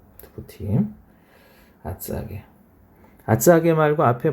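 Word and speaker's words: 厚揚げ: 자, 뭐라고 읽느냐 하면 아츠아게. 아츠 두껍다 이거죠. 아게 튀겼다 하는 얘기예요.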